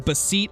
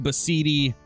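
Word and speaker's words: Beceite: Yes, it's pronounced Bathidi Ibex as far as I know. That's how Flinter pronounces it, and usually Flinter is pretty on point with his pronunciation of different species. Some people call them Basit Ibex, some call them Basidi, but I believe the name is Bathidi, if I'm not mistaken.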